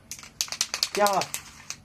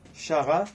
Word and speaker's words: Cara: Non, c'est pas parce qu'il y a CH que ça se prononce comme chat. Du coup, non. C'est le C, il se met pas avec le H. Ça fait K.